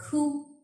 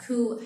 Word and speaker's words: coup: Or coup. A coup has a P in it, but we do not pronounce it.